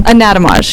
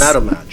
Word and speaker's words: Anatomage: Anatomage, yes. Anatomage.